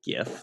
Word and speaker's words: GIF: the word graphic right it's a hard g but most people just pronounce it jif i pronounce it jif but maybe it should be called gif well if you're following